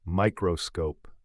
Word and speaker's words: μscope: want to stick around for this one uscope pronounced microscope isn't just a clever name it's an exciting